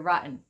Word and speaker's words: rotten: another video about pronunciation i'm from new york and sometimes we have something like a soft or silent t so it's kind of like skipping the t i would just say you're rotten you're rotten but other